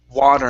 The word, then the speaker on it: water: to the word water instead of w w okay it's an a sound here W water water water good now this T here in the middle okay that's going to be a flap T you want to hit the top of your your mouth very hard d d